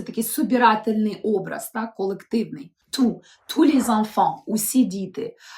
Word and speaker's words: tous: собирательний образ Так колективний ту усі діти а ліж як я сказала так усі сири ітулі так есочка не читається ще раз зрезумуємо Отже слово ту коли S не вимовляється - це прикметник який